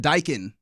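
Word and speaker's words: Daikin: Park okay yeah yep I said it Dyan there's a there's two syllables there uh but that that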